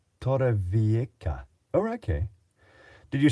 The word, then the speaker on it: Torrevieja: The J is now pronounced as a K. Torrevieja.